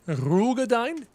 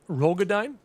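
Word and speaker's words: Roegadyn: It's pronounced rugine, not rogodine.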